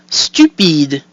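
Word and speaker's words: stupide: stupid stupid so the U is pronounced U the I is pronounced e and the e at the end is silent giving us stupid so we have e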